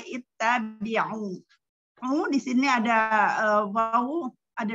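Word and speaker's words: اتَّبِعُوا: Jadi kita hamzah wasolnya, kita apabila ada fathah atau kasroh, hamzah wasolnya berubah menjadi dengan harokat kasroh. Jadi dibacanya ittabi'u.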